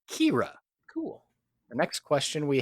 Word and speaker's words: Khira: k h i a and is pronounced Kira cool the next question